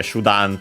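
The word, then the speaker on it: 集団: Yeah, Shudan, Chinese compound, unaccented as usual, but yeah.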